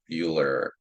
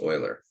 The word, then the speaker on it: Euler: Yeah, this is pronounced Euler, not Euler. It's Euler.